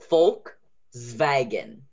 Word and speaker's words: Volkswagen: Okay, so the pronunciation is Volkswagen. So the V is pronounced like an F. Volk, and then the W is pronounced as a V, so that's a good one.